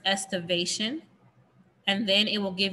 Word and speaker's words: estivation: how to say it estimation the word is estivation and then it will